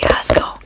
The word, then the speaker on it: Jasco: is Jasco it's pronoun it's pronounced yasco but it's spelled Jasco and he makes oned